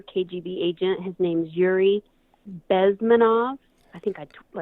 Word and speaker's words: Bezmenov: His name's Yuri Bezmenov. I think I butchered that, but it's Bezmenov.